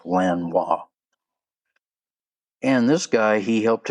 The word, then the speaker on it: Lanois: That's L A N O I S. I'm guessing French. It's pronounced Lan Wis.